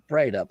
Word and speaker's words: Breithaupt: Breithaupt. Did I say it right? That's it. Light up, Breithaupt. I like the light up, Breithaupt part. That makes it easy.